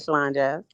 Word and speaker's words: ShylanJazz: yeah, you said it right, Shalon Jazz.